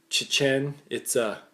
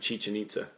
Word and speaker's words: Chichen Itza: That's not even how you say it. Buddy made sure every time he said it on the tour, he's like, it's Chichen Itza.